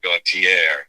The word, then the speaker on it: Gautier: Teba Gautier, is how you pronounce Gautier.